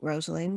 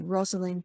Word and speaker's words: Rosalyn: lives back on track what first of all rosaline what uh sorry this is rosalind palmer everybody i've not even introduced your name have i i do apologize let me say it properly rosalind palmer so welcome roslyn to the weird world